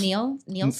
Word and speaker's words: Nils: Niels? It's like pills, but with an N. Niels. So Nils?